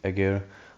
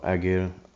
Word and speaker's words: Ägir: German Cruiser tier 8 Edgar or Ager depends how you want to pronounce it so yeah most of